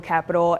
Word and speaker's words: Akrewe NOLA: PURPOSE: AKREWE PURPOSE: AKREWE NOLA (PRONOUNCED (PRONOUNCED UHCREW (PRONOUNCED UHCREW NOLA) (PRONOUNCED UHCREW NOLA) IS (PRONOUNCED UHCREW NOLA) IS